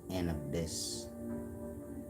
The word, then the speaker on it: Anubis: Anubis being the abyss it's pronounced an abyss you are pronounced a not you all the time you feel me so